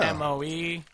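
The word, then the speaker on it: Moe: M-O-E, or at least that's pronounced Mo.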